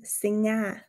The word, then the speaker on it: singa: Wir sagen also zum Beispiel in Zürich singe, während wir in Bern singa sagen.